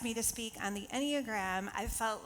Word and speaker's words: Enneagram: So it is the Enneagram, that's how you say it.